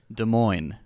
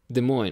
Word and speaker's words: Des Moines: in the states uh how is that actually pronounced des moines des moines okay my bad des moines has 215 000